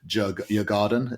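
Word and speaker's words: Djurgården: a very favourable draw against I can't even pronounce this as well. Jurgarden, is that who? That's how you pronounce. Is that how you pronounce it? I think, yeah. So Jurgarden, I don't they'll know.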